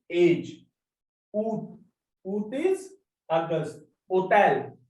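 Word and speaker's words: hôtel: Hotel. Hotel is hotel. We are not pronouncing this H. Ash. Because this is silent.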